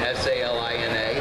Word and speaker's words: Salina: Is it S-A-L-I-N-A? Yes. Then, according to my English teacher, the I becomes a long I because the A, there's only one letter between it, so it's Salina.